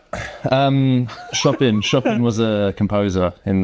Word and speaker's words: Chopin: Chopin. Is that how you pronounce it? Yeah, it rhymes with Topin.